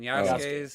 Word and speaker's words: Yasuke: Yusuke? What? Yusuke? When Yasuke's Yasuke.